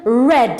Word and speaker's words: read: changes in pronunciation so the verb to read in the infinity form is read or in the present it's read but in the past form it becomes red like the color red right sing becomes sangha